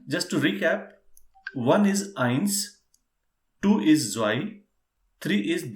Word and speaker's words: eins: start one by one first is ions please pronounce eins yeah irons second is zoy why yeah then